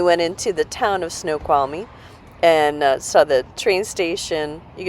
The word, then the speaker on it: Snoqualmie: Then we went into the town of Snoqualmie and saw the train station.